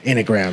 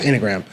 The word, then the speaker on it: enneagram: Enneagram. It's not an enneagram. Okay. It's enneagram.